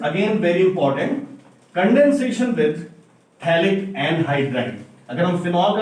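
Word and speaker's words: phthalic: देखिए, ये मॉलिक्यूल है CO एंड O, ये जो मॉलिक्यूल है दिस इज थैलिक एनहाइड्राइड। इसमें pH साइलेंट है, साइलेंट का लॉजिक तो मुझे भी नहीं पता नहीं ये अंग्रेजों का है बना दिया है।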